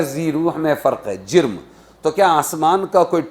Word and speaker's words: جرم: جیم رے میم، جرم۔ ہمارا تو جسم ہے، لیکن چیزوں کا جرم ہے، اس کو جسم نہیں بولیں گے۔ ذی روح غیر ذی روح میں فرق ہے، جرم۔ تو کیا آسمان کا